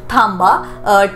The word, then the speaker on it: थांबा: ठीक है, इट इज a Maharashtrian Marathi word pronunciation, थांबा, THAMBA, थांबा।